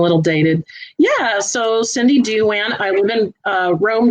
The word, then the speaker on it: Douan: band duran duran yeah it's pronounced just like duran duran except if you had